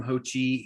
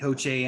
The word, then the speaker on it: Ho Che: so a lot more to look for from ho chi ho che anderson sorry ho che anderson uh hmm oh